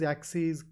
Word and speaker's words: axes: This ES is pronounced as E's. So analyses, axes, crises.